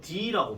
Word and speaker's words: the: 이 정관사 더의 발음은 만약에 모음으로 시작하게 되면 더라고 발음하지 않고 D라고 발음합니다.